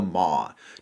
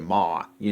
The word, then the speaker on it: Maw: Southern me pronounces it Maw, like the word for mom.